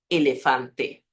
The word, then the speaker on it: elefante: La letra siempre tiene el sonido E. Así que la pronunciación correcta aquí es elefante. Elefante. La E cerrada, la A abierta, a letra E fechada e a letra A aberta.